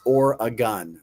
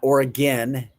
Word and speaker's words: Oregon: It's Oregon. Oregon. Oregon. Not Oregon. Oregon.